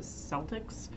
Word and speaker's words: Celtics: I know that in America we have a sports team called the Celtics.